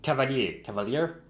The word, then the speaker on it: Cavalier: Cavalier? In French it's Cavalier, so Cavalier, let's go.